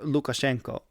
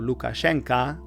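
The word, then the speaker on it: Lukashenka: unscrupulous character goes by the name of Alexander Lucashanka. Haven't heard that name in a while. Really was a pseudonym sometimes used by a rival of mine. A total brat. Alexander Lucashenko or Alexander Lucasena.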